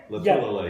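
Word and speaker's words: Lotulelei: Latulele.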